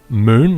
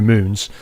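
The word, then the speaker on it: Mün: he's currently stood on moon that's spelled muu n and the U has an um out on it uh this is not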